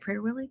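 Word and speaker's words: Prader-Willi: But um what blew my mind is then he actually brought up the prader Willie. I don't know if I'm saying it right. Prader Willy.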